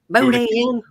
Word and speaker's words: Boudin: We'll rename him Get down in the Boudin. chat, That's a cool name, Boudin. Boudin. But you gotta say it like Laura.